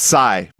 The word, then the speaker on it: PSY: Yeah, Greg, it's pronounced "sigh".